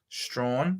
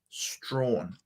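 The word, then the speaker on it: Strahan: is spelled that way town in Tasmania Strawn said the same way both sound like Strawn there you go Strawn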